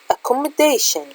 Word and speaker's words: accommodation: For example, accommodation. Accommodation, it has more than one syllable. Accommodation. Accommodation, 3 syllable. The stress mark is here.